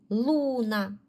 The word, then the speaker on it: Луна: Луна. Наголос на у.